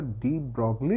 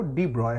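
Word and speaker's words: de Broglie: टू डी ब्रॉय wavelength, अब बोले सर डी ब्रॉगली लिखा हुआ है, ये डी ब्रॉय कहाँ से बोल रहे हैं, एक्चुअली इसका प्रोनाउंसिएशन जो होता है वो डी ब्रॉय होता है।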